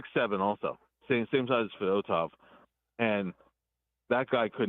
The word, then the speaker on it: Fedotov: But I got to tell you, Bill, Fedotov, is that how you say his name? Fedotov, yeah.